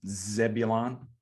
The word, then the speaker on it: Zebulon: Zebulon okay Timber right did I nail that pronunciation Mr North Carolina you did Zebulon not a boy Wisconsin Timber Rattlers hey them